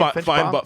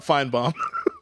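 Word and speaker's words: Finebaum: Is that what you say his name? Finchbaum? Feinbaum. Feinbaum. Feinbaum.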